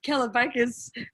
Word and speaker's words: Kalabakas: It's Kalabakas, but it's nice listening to someone try to pronounce it.